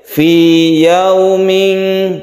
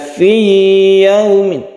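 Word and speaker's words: فِي يَوْمٍ: tapi dalam kasus ini Apabila ada ya sukun yang sebelumnya kasroh maka ini tidak di idghamkan artinya tidak ditastibkan ke ya jadi membacanya seperti Mad Thobi'i biasa satu Alif Fi yauming tidak perlu ditakdirkan Fi yaumi bukan itu salah yang betul adalah biasa saja Fi yaumi meskipun dia itu Idgham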